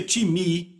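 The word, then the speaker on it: τιμή: se soletra time tem M eu digo o time porque a nossa pronúncia mas se pronuncia time e quer dizer uma valorização repito valorização significa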